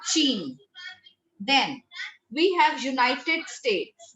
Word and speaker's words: Chine: CH sound is always sh. So we call it La Chine. It's not Chine.